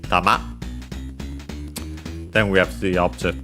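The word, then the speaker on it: 玉: fundamental meaning is ball the accent is uh on the ma okay on the last syllable tama then we have the object particle o tama.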